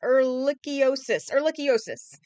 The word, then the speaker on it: ehrlichiosis: I actually spelled out the pronunciation of it. Where is it? Okay, there it is. Ehrlichiosis.